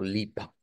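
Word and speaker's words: Lippe: una e y eh debo de pronunciarlo como lipa eh recordar que en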